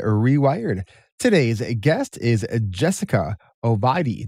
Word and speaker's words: Ovadia: Today's guest is Jessica Ovadia. I didn't even say that right, did I? You did, Ovadia.